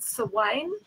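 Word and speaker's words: Samhain: it's become no and it used to be called silane spell sa m h AI n and i I go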